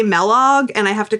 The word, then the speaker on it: Melog: and they always say Melog, and I have to correct them, even though I think it's pretty obvious that it should be a hard E. Like Kellogg.